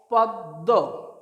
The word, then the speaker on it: পদ্ম: এটার উচ্চারণ ময়ের উচ্চারণ হবে না, দয়ের উচ্চারণটা দ্বিত্ব অর্থাৎ দুবার হবে। কেমন করছি উচ্চারণটা? প দয়ে ম, পদ্ম, পদ্ম।